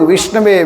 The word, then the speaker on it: विष्णवे: गोविंदम भाव ग्राही जनार्दन जो पढ़ा लिखा नहीं व भगवान को विषय कहता है संस्कृत के अनुसार गलत उच्चारण है लेकिन भगवान उसको देखते हैं कि उसका हृदय में मुझे भजने की आदत है तो उसको मिल जाते हैं और पंडित लोग विष्णवे विष्णवे विष्णवे कहते हैं लेकिन भाव नहीं है